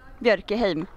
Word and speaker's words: Björkhem: Well, you have to practice the Ö and the M in the end, the short M. Björkhem.